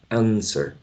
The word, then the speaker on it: answer: answer or answer right the w is not pronounced you don't say answer answer no answer okay and and uh finally